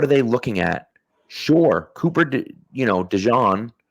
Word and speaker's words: Cooper DeJean: Sure, Cooper, DeJean, right, which that is the correct pronunciation, by the way.